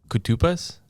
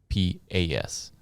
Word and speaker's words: Koutoupas: So if you think of it in terms of Koutoupas, so that's how you kind of pronounce it, Koutoupas. So it's common spelling. Rhymes with snuffleupagus.